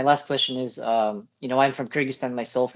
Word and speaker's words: Kyrgyzstan: Kyrgyzstan, yeah, that's right.